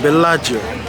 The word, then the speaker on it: Bellagio: It's pronounced Bellagio. Bellagio. The captain, the ferry, pronounced it like Bellagio, right?